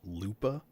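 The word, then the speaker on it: Lubadh: I'm going to put clouds, and then clouds is going to go into the lubad. I guess it's technically just pronounced lupa, which I don't know.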